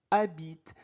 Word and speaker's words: habite: A habite. En français, on ne prononce pas H. H est mué.